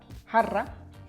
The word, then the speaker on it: jarra: This is a jarra, jarra. You have to roll your R there. Practice with me. Jarra, jarra. You're a cat purring.